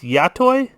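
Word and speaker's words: Yottoy: toy yacht toy ah it's hard to pronounce that word it's yatoy yatoy y-o-t t-o-y it's not focusing but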